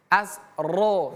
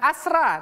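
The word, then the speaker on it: أَسْرَهُمْ: Asro. Jangan asra tapi asro.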